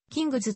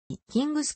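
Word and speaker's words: King's: しているナオキング s の英米語での発音は型ジェットであることから発音に即した形でカタカナ表記するとキングズとなるが寛容的に静音のキングスを用いる例が多いキングスクロス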